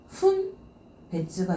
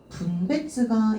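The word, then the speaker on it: 分別: 분별은요. 발음이 두 개가 있어요. 훈베츠가 있고요. 분베츠가 있어요. 훈베츠가 있고 분베츠가 있어요. 자, 그러면은 이 훈베츠가 바로 사리 분별이에요. 근데 분베츠 타급이 들어가게 되면은 물건을 구분하는 거죠. 물건을 분별.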